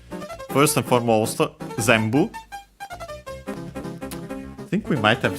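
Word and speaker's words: 全部: This one though, one of those accented on the first syllable. Yes. On the Z. Zambu it means uh it's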